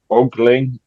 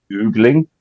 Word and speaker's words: ogling: Isn't it ogling, not oogling?